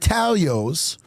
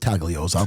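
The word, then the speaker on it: Taglio's: THE SARAH slice at Talio's. The G is silent. Don't call it Tagalos.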